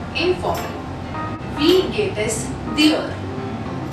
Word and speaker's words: wie: Wie geht es dir? Wie, like we, the alphabet which we have in English.